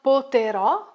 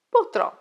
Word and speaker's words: potrò: So, it's not poterò, but potrò.